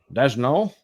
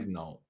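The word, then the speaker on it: Daigneault: Mark Dagno. No nickname. Interesting. Not a single nickname listed. Just how to pronounce his last name. I'm pretty sure I got it wrong. Just Mark. Yeah, just Mark. Dagno.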